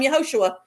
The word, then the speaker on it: Yahushua: A lot of times I call him yahushua because that's how you say his name in Hebrew and I can go